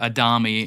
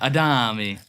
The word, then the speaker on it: Adami: Well, I'm Adami, or Adami in the correct pronunciation. Is that the correct pronunciation? Yeah, Adami. This whole time I've always said Adami. Well, we just switch between the two. I'd say Adami a lot. Not Adami.